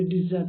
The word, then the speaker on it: desert: लेकिन अगर वर्ब में हम बोलते हैं तो डिजर्ट बोलेंगे। इसका प्रोनाउंसिएशन वर्ब में जो होगा वो डिजर्ट होगा।